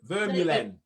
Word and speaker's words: Vermeulen: Well, it's supposed to be, because it's Dutch, the V is the F and you roll the R. So it's supposed to be Vermeulen.